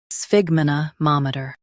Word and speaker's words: sphygmomanometer: Stress ma and keep ter light.